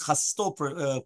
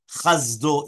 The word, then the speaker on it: chasto: Right, another point to make sure to pronounce the words chasto correctly, since people often carelessly make it chasdo instead.